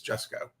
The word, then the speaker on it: Jusko: So now I can always remember it's Jessco.